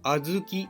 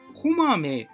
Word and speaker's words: 小豆: それは小豆です小さな豆と書いてあずきと読みますでもこまめと読んではいけませんあとで説明し